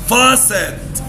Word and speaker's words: faucet: الأيو مع بعض بتتنطق فأقول Faucet.